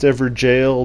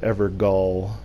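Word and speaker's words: Evergaol: Is it pronounced Everjail? No, it is not. It's pronounced Evergall.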